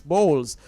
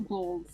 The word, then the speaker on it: Bolles: was getting it incorrect its bowls thank you so much for that play no balls yes uh sorry